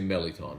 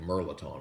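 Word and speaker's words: mirliton: All right, so Coach Ken, you say Meliton. That's cool. But I'm pretty sure there's an R in there, isn't there? It's like Merlaton is how it's pronounced.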